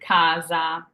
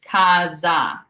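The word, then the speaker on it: casa: sound in our word it's going to be a z sound I call it our American z sound like the word zipper the Z in zipper so here you can see the word Kaza so we have a singular s here sandwiched by A's and A's are vowels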